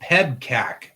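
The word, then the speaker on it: PEBCAK: Oh, PEBCAC is how it's pronounced.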